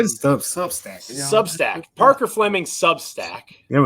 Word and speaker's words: Substack: over at Subs I always subus I always mispronounce that name yeah just say substack substack Parker Fleming substack here we go uh